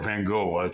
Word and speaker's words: Van Gogh: But the point is that, for instance, you take Vincent van Gogh, or Van Gogh, I believe it's correct pronunciation in Dutch.